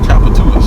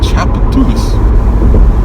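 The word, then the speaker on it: Tchoupitoulas: That word is pronounced Chapatulas, if you aren't familiar with it. Chapatulas.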